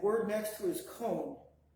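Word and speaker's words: koon: The double O sound, and that word next to it is cone. Cone. K-O-O-N. Cone, which means snow. And it's pronounced like the O in post.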